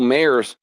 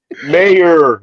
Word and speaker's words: Mayer: Mayor, there's no S.